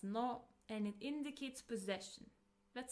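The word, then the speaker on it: の: It is pronounced as no and it indicates possession.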